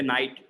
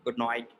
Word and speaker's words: night: is water and night we do not just flat say night we just like kind of round our lips it's like kind of night good night night you're just like